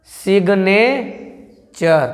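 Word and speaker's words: signature: है क रहा है यू आर ई लास्ट में आए तो यू आर को अर पढ़ते हैं तो ये पूरा क्या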